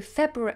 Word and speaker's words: February: that right February February I think it's supposed to have that extra R sound in it February February but it makes you feel like you have a lisp February February February I'm